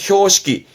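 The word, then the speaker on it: 標識: 우리는 이 표식이라면 보통 표지를 말하는 건데, 발음은 효시기.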